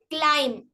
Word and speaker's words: climb: for silent letter b letter B is silent after M at the end of a word example climb dumb dumb limb thumb